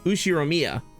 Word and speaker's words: Ushiromiya: The first part is my family name, Ushiromiya. That's a fairly plausible Japanese pronunciation so far.